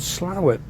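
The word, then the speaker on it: Slaithwaite: but dropping into slower it's spelled differently but it's called slower I mean we're gonna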